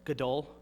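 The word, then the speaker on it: גדול: Gadol? Gadol. And remember, it's Hebrew, so it's gadol. If you're not spitting on the person in front of you, you're not saying it right.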